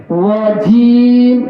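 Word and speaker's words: رجيم: মোটা করে ধরেন ত ত ক তানি কানিল রজিম রজিম রজিম রজিম এই র টা অমুক উচ্চারণটা মোটা হবে রজিম রজিম আউজুবিল্লাহি মিনাশ শাইতানির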